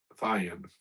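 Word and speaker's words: thyine: Or is that how it's spelled? Wood and all manner of vessel of ivory. Yeah, Thion.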